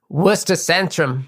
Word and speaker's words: Centrum: There's something and I don't really know why but our shows at the Worcester Sententrum pronounced with a locals accent would be worentum.